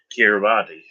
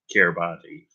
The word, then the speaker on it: Kiribati: before the countdown, before the new year in Kiribati. I think that's how you pronounce it, Kiribati.